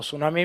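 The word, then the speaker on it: tsunami: लेकर जापान तक जाओगे तो उसमें टी साइलेंट होता है जैसे सुनामी तो सुनामी में प्रोनंसिएशन टी का नहीं किया जाता सिर्फ सु का किया जाता सु यानी सागर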